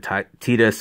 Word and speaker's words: Tidus: not to re-release figures but apparently yuna and tidus or titus whichever you want to pronounce the name seems to be the different